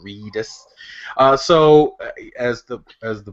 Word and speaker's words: Reedus: name is a Norman Redis is it ready sir reedus reedus to ease I should pronounce it the way it's spelled reedus so as the as